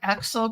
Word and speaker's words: Aaxel: I'm here today with a conference preview with Alexa Nazzaro, the founder of Aaxel Group. Is that pronounced correctly?